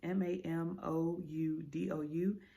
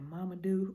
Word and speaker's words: Mamoudou: It is Mamoudou. It looked like Mamadou, but I just feel like I did him real dirty right there.